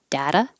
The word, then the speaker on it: data: flap dazzy dada dada so the second one shouldn't sound like d dada should be a quick little touch data oh this one data